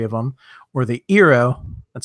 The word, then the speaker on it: Eero: or $249 for 3 of them, or the Eero.